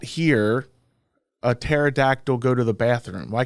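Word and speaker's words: pterodactyl: you not hear a terod Dactyl go to the bathroom why can you not hear because the because the p is silent can't hear it because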